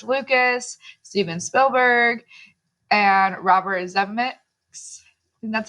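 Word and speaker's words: Zemeckis: directors like george lucas steven spielberg and robert zemecks that's how you say it so that was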